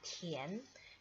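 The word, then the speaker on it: 田: Nah, tulisan ini bacanya adalah Tian.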